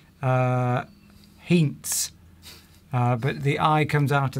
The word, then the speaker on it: Heinz: all, you pronounce it Heinz. Heinz. If you were German. If you were German. Here the Z is pronounced with a T apostrophe S.